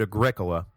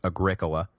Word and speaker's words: Agricola: mock triumph was that a gricola, and yes, thank you for the pronunciation correction, it is agricula, not agricola, which, yeah, I agree, sounds like some kind of terrible hippie soda, so I'm sorry about that.